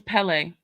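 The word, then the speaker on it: Kpelle: in football it's spel it's spelled k p e l e okay but it's pronounced Pelle still yeah yeah yeah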